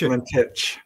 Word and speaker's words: Valentich: Valentich. Okay. Yes, that's it. You got it. I've been mispronouncing it the whole time.